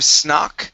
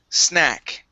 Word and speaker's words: snack: word here this is instead of snck it's sna snack snack okay very nice and